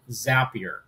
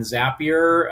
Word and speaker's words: Zapier: use an app called zapier and zapier uh if you think happier is how it's pronounced basically is the opportunity